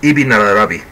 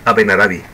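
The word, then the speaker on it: Ibn Arabi: sufi abenarabi de murcia en árabe se pronuncia ibin arabi en la forma castellanizada es abenarabi y el judaísmo con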